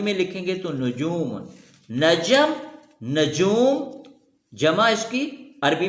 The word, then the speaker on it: نجم: ہو بہو اسی صورت میں موجود ہے۔ جیسے نجم، نجوم، نجم ستارے کو کہتے ہیں، نجوم اس